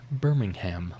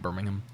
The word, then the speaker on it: Birmingham: wrong, like, you know, people don't say Birmingham like they do for Alabama. It's like Birmingham.